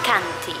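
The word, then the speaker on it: Chianti: a la zona de canty se escribe chanty que es como la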